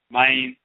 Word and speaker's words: Mayn: As we have shown in our Odwiraman publication, the term spelled here, mine, and we spell it M-A-Y-N, mine, but it's just a variation of a spelling.